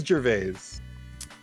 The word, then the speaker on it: Gervais: his last name yeah uh how do you pronounce his name oh there's a clip perfect he says gervais thank you so wait which one did i